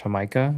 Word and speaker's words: jamaica: It's spelled like Jamaica, but it's pronounced in Spanish hamaha.